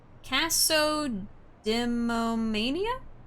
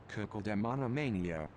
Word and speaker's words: cacodemonomania: Let's see how it's actually pronounced. Because I don't think that's right. Let's see. Cacodemonomania. Oh, cacodemonomania. Okay, caco. Cacodemonomania.